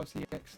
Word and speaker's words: CeX: We know that sex is an offensive word, but according to Wikipedia, that's how CX stores are pronounced as, but due to the offensive pronunciation,